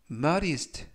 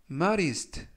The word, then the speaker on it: modest: 이번 표현은 modest, modest, modest 라고 발음하시면 되겠고요. 이때 D 발음을 부드럽게 드가 아니라 르, 그래서 modest 라고 발음하시면 좋겠고요.